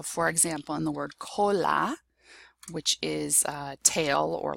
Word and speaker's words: cola: If you have a CO, a CA, a CU, or a C plus a consonant, it will be pronounced K. So for example, in the word cola, which is tail or